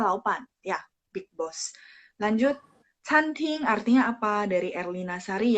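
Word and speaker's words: 餐厅: daerah Guangzhou, mereka bilang canting, restoran. CANTING. Pas baca memang T bacanya TH, tapi tulisan pininnya tidak ada H ya. CANTING. Chan nada 1, CAN nada 1, ting juga nada 1.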